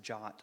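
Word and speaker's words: JWT: the way is pronounced jot so if that comes out that's what I'm talking about the W apparently makes an ah sound in English I guess there are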